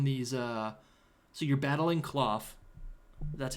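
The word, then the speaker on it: Klawf: down here on these uh so you're battling cloth that's how you say it right cloth yeah cloth and you can and you can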